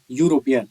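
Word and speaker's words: European: यहाँ इस वर्ड का उच्चारण है यूरोपियन, यहाँ यू आ रहा है जो कि एक कंसोनेंट साउंड है।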